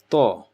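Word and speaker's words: طاء: So to is the same place as ta, but again to is a little bit more sharp because your mouth is getting slightly round and you're focusing at the same place where this is. Ta is, so tip of your tongue touching the bottom of your upper jaw, upper teeth, and gum. To.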